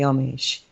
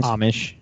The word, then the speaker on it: Amish: Very similar, I would imagine, to the Amish. How do you say that word? Amish. Amish. Amish. Like it's like an O, isn't it?